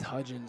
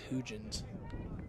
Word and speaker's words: Hudgens: Same with Hudgens. Someone said Hugens at Creek. That's not right. Definitely not right.